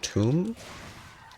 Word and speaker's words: toum: It's a Lebanese sauce condiment that I believe is pronounced toum.